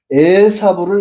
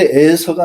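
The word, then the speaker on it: 에사우: 아말렉은 누구냐면 이학이 야곱과 에사부를 낳았습니다. 개혁 성경에는 에서와 야곱이라고 이렇게 되어 있죠. 근데 에서가 아니고 에사부입니다. 에사부 이브리어 발음으로는 그리고 신광야가 아니고 신광야예요.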